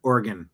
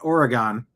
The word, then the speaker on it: Oregon: If you are a farmer and if you live out there, you pronounce it organ, not Oregon. Organ.